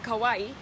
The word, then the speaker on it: Kauai: We are in Kauai, Hawaii. Don't you love how it rhymes? Kauai, Hawaii.